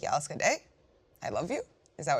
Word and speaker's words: Jag älskar dig: Jag älskar dig.